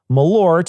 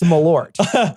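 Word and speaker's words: Malört: a Swedish variant of Malort, and I'm saying Malort here, but it's actually pronounced Malort.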